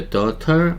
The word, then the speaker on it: daughter: 이 안에 중간에 있는 GH가 발음이 안 돼요. 그래서 daughter 하시면 안 되고 daughter 이렇게 하셔야 돼요.